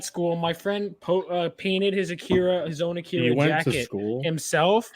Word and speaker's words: Akira: you guys have seen Akira right what's that it's pronounced Acura actually well I don't care